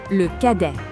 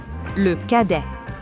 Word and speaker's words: cadet: Le cadet. Le cadet. Remember that the T in le cadet is silent.